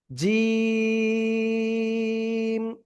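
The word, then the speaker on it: جيم: হবে ঠিক আছে এক দুই তিন আলিফটা নিয়ে উচ্চারণ করব জিম শক্ত করে সবাই প্লিজ একসাথে জোরে জোরে উচ্চারণ করেন তো আলহামদুলিল্লাহ।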